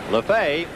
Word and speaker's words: Lefebvre: So Joel Lefebvre spells his name the same way, but pronounces it differently from the Dodger infielder Jimmy Lefevre. So Joe has it Lefebvre. Lefebvre hit .306 with 8 home runs and 39 RBIs during the year.